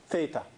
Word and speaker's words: theta: This letter, Greek letter, we use a lot for angles, and it's pronounced, this thing is theta.